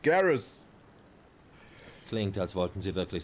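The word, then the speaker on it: Garrus: glücklicherweise englisch ausgesprochen wird das ist nicht garus der Römer das ist garis klingt als wollten sie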